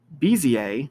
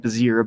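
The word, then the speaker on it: Bézier: going to use polygon bza which is how that's pronounced i know it looks like bizir but it's bza and magnetic and then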